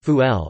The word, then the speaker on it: ful: Fava beans, Arabic, full pronounced fuel, are a common staple food in the Egyptian diet, eaten by rich and poor alike.